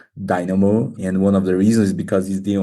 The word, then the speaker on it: Din4mo: name of your company it's Dino not din foro so apologies no problem ex because we write with the number four the letter A Dynamo and one of the